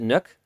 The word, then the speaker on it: NUC: Because I think Intel actually pronounces it Nook.